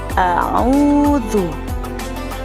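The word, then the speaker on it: أعوذ: Dalam surat An-Nas, yaitu pada ayat pertama, ada perbedaan antara huruf alif dan ain. A'udzu. Jadi cara membacanya a'udzu.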